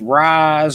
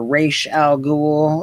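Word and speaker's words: Ra's al Ghul: So, this is the first Talia versus the first Raz or Ra Al Ghoul if you want to uh pronounce it like that.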